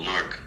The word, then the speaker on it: Newark: They say like one one syllable Newark.